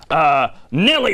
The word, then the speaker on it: Nellie: indeed, we now are very fortunate to welcome to the programme Nellie and her dog. Yes. Am I pronouncing that correctly? I believe so. Nellie. Well, in that case, I was pronouncing it wrong.